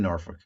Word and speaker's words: Norfolk: you were actually in Norfol Yeah. Uh, you don't even say it right. It's Norfolk. They say Norfol.